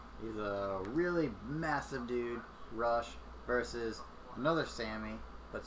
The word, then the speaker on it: Rush: He's a really massive dude, Rush, versus another Sammy, but spelled differently. Sammy Guevara? Sammy Guevara. I don't know anything about these guys. I would say it's actually pronounced Roosh.